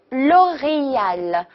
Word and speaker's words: L'Oréal: ，加一点重音哈，l'oreal，l'oreal， L'Oréal，很好，欧莱雅 L'Oréal，L'Oréal，特别好。